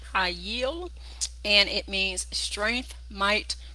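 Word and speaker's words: חַיִל: This is the first time we've had this in the Hebrew, and it is pronounced hayil, hayil, and it means strength, might, wealthy, or force.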